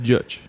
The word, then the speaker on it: Judge: How do you say his last name? I've never said it. Judge. Judge. Travis Judge, our drummer.